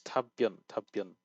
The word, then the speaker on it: 답변: It's 답변. 엄마의 It's 답변. it goes into a tense consonant on the second, but you also kind of pronounce the consonant here.